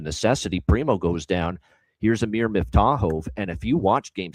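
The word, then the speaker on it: Amir Miftakhov: So I made sure I looked it up for Amir Miftahov, and that's how you pronounce it for this kid.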